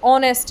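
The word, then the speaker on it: honest: जैसे ऑनेस्ट है। है ना? ऑनेस्ट में जो एच है, वह साइलेंट रहता है। तो किसकी साउंड देता है?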